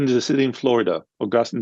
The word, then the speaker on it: Augustine: Augustine is a city in Florida. Augustine is a saint of the church.